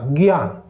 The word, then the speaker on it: ज्ञान: अंतर से बने घी आ न ग्याना ग्यान ऐसे लगता है ठीक है ऐसे इसका उच्चारण होता है और इसका लिखावट भी